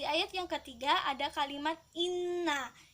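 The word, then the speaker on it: إنّا: Di ayat yang ketiga ada kalimat inna. Cara membacanya nun tasydid harus ditekan dan didengungkan.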